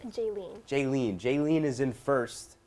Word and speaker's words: Jealyne: for Jess how do you say your name jayen jayen jayen is in first Jess is in